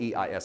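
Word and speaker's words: εἰς: It's pronounced ice like ice cubes.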